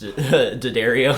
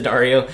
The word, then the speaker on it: D'Addario: the internet really loves whenever you mispronounced d'addario into dario then i thought i